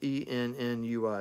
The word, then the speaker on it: ennui: It's called Ennui. It's spelled E-N-N-U-I. It's pronounced Ennui, which basically means boredom, bored, you know, inactive, lacking adventurous, you know, it's just boredom.